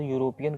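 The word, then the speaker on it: European: यूरोपियन आ गया, और जब इसका आप प्रोनाउंसिएशन करेंगे तो यूरोपियन करते हैं। तो जब प्रोनाउंसिएशन में आप यू बोल रहे हैं, इसका मतलब कि यू का स्पेलिंग होता है YOU।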